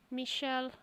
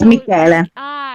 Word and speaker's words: Michele: Michelle. Yeah, because it's CH, it's K. So it's Michele. So in Italian it's Michele, not Michele.